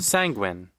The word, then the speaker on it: sanguine: Sanguine. Rhymes with penguin.